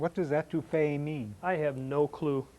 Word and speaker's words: étouffée: If you put the emphasis on the end of it, étouffée, that's smothering food with a sauce. So don't say étouffée, that's smothering a person, and you can get yourself in trouble.